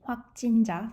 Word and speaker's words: 확진자: So the actual pronunciation would be 확진자 for this confirmed case.